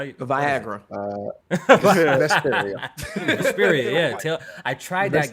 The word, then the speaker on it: Vesperia: Vesperia. Vesperia, yeah. I tried that game. I believe Vesperia.